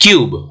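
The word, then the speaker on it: cube: क्यूब, YOU के format में हम यहाँ पे U को प्रोनाउंस करेंगे, राइट? क्यूब। तो C और B के बीच में U है, ये जो U है YOU की तरह प्रोनाउंस कर रहा है, लंबा खींच रहा है, तो इसलिए यहाँ पे क्या हो जाएगा?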